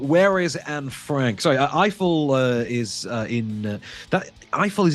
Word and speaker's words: Eiffel: There are enough in the way of actual facts, I think, presented about Gustav Eiffel, as you tell me, Eiffel.